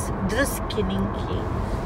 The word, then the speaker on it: Druskininkai: Druskininkey. That's hard to pronounce.